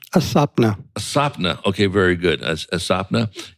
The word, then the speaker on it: Aswapna: Am I pronouncing that correctly? Aswapna.